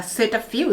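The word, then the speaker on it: Cetaphil: the first product i see is from uh set a few that's how you pronounce it gentle exfoliating cleanser all right now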